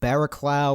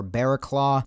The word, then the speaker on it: Barraclough: along the lines of barack lou or bear claw it's b-a-r-r-a-c-l-o-u-g-h but it turns out it's pronounced like bear claw like a bear's claw so kyle bearclaw very